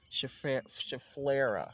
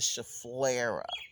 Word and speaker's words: Schefflera: So my Schefflera, that's how you say it, the Schefflera plant.